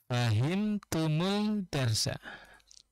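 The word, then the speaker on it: فَهِمْتُمُ الدَّرْسَ: Fahimtum ad-darsa Ya, jika kita membacanya secara terpisah. Ya. Fahimtum ad-dars. Mari kita coba menghubungkannya. Fahimtumud-darsa. Fahimtumud eh, fahimtumud-darsa.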